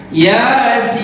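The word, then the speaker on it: يس: Ya-nya dua harokat, sin-nya 6 harokat, kemudian sukun di akhirnya. Ya, kita ulangi bacanya. Yasin.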